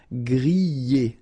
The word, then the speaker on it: griller: Remember, er, because these are verbs here. Griller, pocher, éplucher, okay? You pronounce them E, okay, even if you get this R, okay, this combination of 2 letters, R at the end, will give you the sound E, all right, so griller,